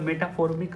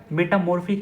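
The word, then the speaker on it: metamorphic: अब हमारा अगला जो है जियोलॉजिकल क्लासिफिकेशन में पहला जो है इग्नियस हो गया, सेडिमेंट्री हो गया, मेटाफॉर्मिक रॉक्स, मेटामॉर्फिक है, सॉरी मैं गलत प्रोनाउंसिएट किया अभी, मेटामॉर्फिक रॉक्स, ठीक है।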